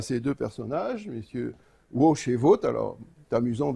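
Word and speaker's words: Łoś: ces deux personnages messieurs woche et vote alors tu amusant de savoir enfin ou instructif de savoir que l barré os accent aigu ça se prononce watch comme l'avait en anglais voilà donc où aoc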